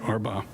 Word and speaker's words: Arbaugh: On April 13th, Richboro Taco Bell manager Becky Arbaugh, that's how you say it, Arbaugh, observed a patron in